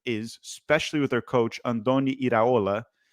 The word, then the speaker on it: Andoni Iraola: especially with their coach, Andoni Iraola. I think I said it right. He's Spanish, so usually I get Spanish names right. Andoni Iraola.